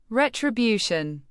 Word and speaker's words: retribution: Retribution. Pronounce it as ray-try-byoo-shun with the main stress on the third syllable, byoo.